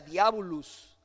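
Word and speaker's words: διάβολος: que esta palabra en griego significa que se pronuncia diabulus y yo como que lo conecte con verdad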